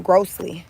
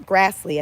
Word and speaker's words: Grassley: Chuck um Grossly, I'm sorry. Let's see. Say Grassley. Chuck Grassley. I think that's how he pronounced his last name.